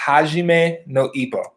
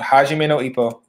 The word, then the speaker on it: Hajime no Ippo: people know about this one but it is pronounced Hajime no Ippo it's called Hajime no Ippo this one is without a doubt one of